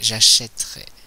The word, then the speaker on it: achèterai: que ça devient au futur simple normalement c'est j'achèterai j'ai bien prononcé e je n'ai pas prononcé e donc